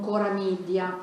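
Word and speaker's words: Chora Media: Noi al Polo del Novecento lavoriamo molto con Cora Media, si scrive CH ora Media.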